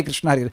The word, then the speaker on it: कृष्ण: Repeat कर रहा हूं, make sure that your pronunciation is perfect. Perfect means correct होना चाहिए। हरे कृष्णा हरे राम राम हरे कृष्णा, किश किश निश निश नहीं होना चाहिए। वह नाम नहीं है, वो अपराध है।